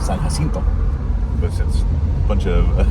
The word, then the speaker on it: San Jacinto: I'm turning right onto San Jacinto, or San Jacinto, if you want to pronounce it correctly. If Texas had lost their Texas Revolution, then we'd call it San Jacinto.